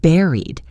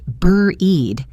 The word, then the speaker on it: buried: Let's look at the word buried. Be careful with the pronunciation. Don't look at the spelling. It's not pronounced bur-eed. It rhymes with berry, like a strawberry.